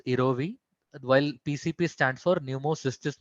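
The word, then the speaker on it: jirovecii: So it is pronounced as erovi, while PCP stands for pneumocystis pneumonia.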